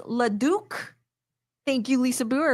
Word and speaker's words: Leduc: It's pronounced Leduc.